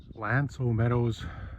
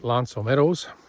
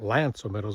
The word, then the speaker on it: L'Anse aux Meadows: I was calling it Lance Ometos before and I think I heard them pronounce it as Lance which I should have known since it's a French word. And by the way, Lance O Meadows is not only just